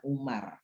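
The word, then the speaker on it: عمر: Itu kata Amr itu kalau ada wawunya dibaca Amr, kalau nggak ada wawunya dibaca Umar. Kalau ada wawunya dibaca Amr atau Amru.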